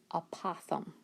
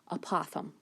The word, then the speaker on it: apothem: So the trick is, the word is apothem.